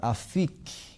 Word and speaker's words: afik: Essa palavra no idioma original do Velho Testamento, hebraico, ela é pronunciada afik.